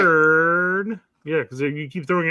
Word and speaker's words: Köln: It's not Bayern Munich, it's Bayern München. It's not Cologne, it's Köln. I could go down the list forever. Köln just happened to be Brett's favorite one. All right. Köln.